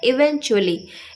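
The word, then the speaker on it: eventually: So correct pronunciation इसकी होती है इवेंचुअली।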